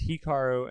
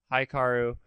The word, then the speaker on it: Hikaru: name so many times it is hearu and not haaru and I made that